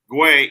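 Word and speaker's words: güey: crw says sorry lol guay equals guy or dude but you pronounce it like way yeah no I understood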